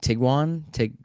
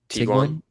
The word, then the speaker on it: Tiguan: It's like the newest Volkswagen Tiguan? Tiguan. I don't know how to pronounce it, but Yeah, it's really Tiguan.